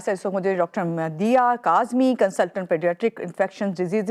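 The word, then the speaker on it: मदीहा: और हमारे साथ इस वक्त मुझे doctor मदिया Kazmi, consultant paediatric infection disease Indus hospital से इनका ताल्लुक है।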